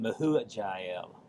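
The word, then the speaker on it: Mehujael: Um then mahu jael or hel if the j is pronounced as an h.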